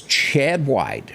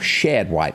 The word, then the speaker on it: Shad White: we turn to others chad white or shad white let me say it properly has been busy he's